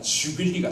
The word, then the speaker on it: jubilee: 원래 J는 U로 나야 되는데 이 영어 쓰는 사람들은 이것을 지어수로 발음을 해서 유빌리가 주빌리가 되었죠.